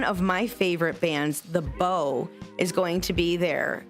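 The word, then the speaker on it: Beaux: And their name is spelled a little unique. It's B E A U X. The bow like the man. It's It's French.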